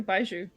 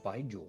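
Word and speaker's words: baijiu: No, it's uh it's actually baiju. Uh by uh it's a um uh how do you spell that?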